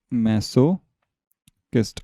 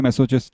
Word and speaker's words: masochist: इसका प्रोनाउंसिएशन याद रखना, मैसोकिस्ट। अब चिस्ट बोलो, कुछ भी बोलो, हमारी मर्जी है, लेकिन एक्चुअल में इसका होता है मैसोकिस्ट। ठीक है, मैं भी मैसोचिस्ट ही बोलता था, लेकिन फिर किसी ने सही किया, नहीं मैसोकिस्ट होता है।